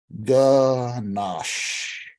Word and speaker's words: ganache: then God created ganache to say the word ganache it is mandatory to stretch out the sh sound at the end of the word the phonetic pronunciation of